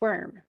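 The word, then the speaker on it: wyrm: if you it's it's spelled in Old English it's spelled wor probably for the great V shift but it's still pronounced worm so um but he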